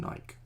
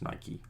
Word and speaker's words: Nike: though, from America, because I was always saying Nike. And I do think it's pronounced Nike. Like, it's a god, Nike. God or goddess, I forget, Nike as well. So I think you say the E at the end.